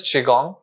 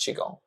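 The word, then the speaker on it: qigong: yourself or the spirit the third one is chiong Chong it's spelled as it's spelled as Qi and gong but I like to spell it as Chong Chi because it pronounced as chiong it's a Chinese traditional practice it's a lot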